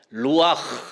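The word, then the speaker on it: רוח: 뭐냐 영이라는 말은 히브리의 말로 히브리 단어로 말하면 루와 이런 발음으로 이렇게 이름을 지었어요 루와 헬라어로는 프뉴마 이렇게 되어 있습니다 영이라는 뜻이에요 근데 루아 혹은 프뉴마 이건 무슨 뜻을 가지고 있냐면요 공기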